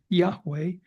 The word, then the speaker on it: Yahweh: the God of Israel whose name we will pronounce here Yahweh but also it appears according to this analysis in several particular places.